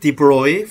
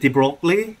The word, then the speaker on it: de Broglie: By the way, the pronunciation of this name, I've been saying it Debroy for a very long time. I had a French speaker in my class about a year ago. And she said she should pronounce it Debroy, and I don't know, Debroy is so much easier.